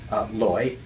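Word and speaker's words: 来: Now, depending on your dialect, you pronounce lai, chu, or in my dialect, my home dialect is Cantonese. It's loi, hui. So it sounds very different. So in the Mandarin dialect, this is pronounced lai, chu.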